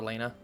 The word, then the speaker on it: Lena: know, Lena, you know, if you don't understand the way Japanese works, R and L is the same, the way that gets translated, so you can pronounce it Reina or Lena.